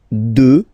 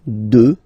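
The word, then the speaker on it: deux: 2. Final X not pronounced, okay? 2.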